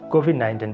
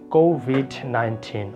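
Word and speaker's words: COVID-19: world go with 19 we you say go V 19 but I would say it will be go with 19 there's stress here go with 19 okay so the compensation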